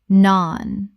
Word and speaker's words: naan: Naan. Rhymes with barn. The vowel is long like the A in father.